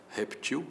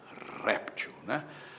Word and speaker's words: réptil: Ele está dizendo para mim que existe a forma reptil, está mandando ver, ele está mandando consultar a forma reptil sem acento. Se fosse com acento, seria réptil, É por aí.